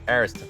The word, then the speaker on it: Ariston: Aristan. Ariston brand.